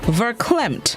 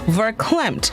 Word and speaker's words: verklempt: of the day is verklempt verklempt it's spelled v-e-r-k-l-e-m-p-t ver klemt it is an adjective